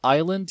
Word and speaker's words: island: طبعا island يعني جزيرة والإس ما بننطقهاش. island.